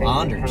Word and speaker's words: Anders: But it's, I think, so in Sweden it's Anders. Mm-hmm. So that's how it's pronounced. And my kids have met Bob a few times, and Bob calls him Anders.